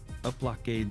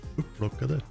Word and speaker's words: upplockade: So like skulls picked up is uplockade skalla. Upplockade skallar. Yes. That's like lemonade that's gone off. What? Uplockade. Looks like bad lemonade. No, you have to say it right. Upplockade.